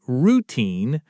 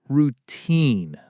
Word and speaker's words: routine: People sometimes stress the wrong syllable. They say routine with the emphasis on the first part, but it's actually routine. The stress is on the second syllable.